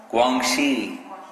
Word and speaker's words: Guangxi: Guangxi.